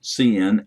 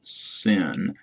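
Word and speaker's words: cin: outputting to the console if you pronounce cn as sin people might think you're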